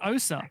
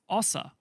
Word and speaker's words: Osa: Apparently it's not Osa. Apparently it's Osa. So apparently we've all been saying it wrong.